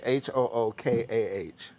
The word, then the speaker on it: hookah: So how do you say H-O-O-K-A-H?